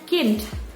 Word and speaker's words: Kind: Oke, untuk bacanya Kind. Jadi ada D di belakangnya, cuman D-nya jangan terlalu jelas diucapkannya, jadi Kind.